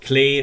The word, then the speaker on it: Klee: from monstart fun fact her name is probably actually pronounced clay which is german and means clover hence her fall leaf